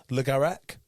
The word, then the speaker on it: Le Garrec: Le Garrec.